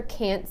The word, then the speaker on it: can't: you that's stressed a the long a is what makes the difference rather than listening for a tea from now on listen for how the a is pronounced and you will know whether it's can or can't of course if you